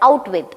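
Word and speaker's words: Out-With: It is named at Outwich, but throughout the novel we can see that it is enabled and pronounced at Outwith, O-U-T-W-I-T-H.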